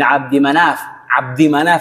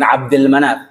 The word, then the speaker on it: Abdi Manaf: Dia Nabi Muhammad SAW kan namanya Muhammad bin Abdullah bin Abdul Muttalib bin Hashim bin Abdi Manaf ya, bukan Abdul Manaf, bin Abdi Manaf bin